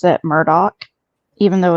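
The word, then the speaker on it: Murdaugh: knows how it's really pronounced but the family pronounces it Murdoch even though it's spelled m d um I'm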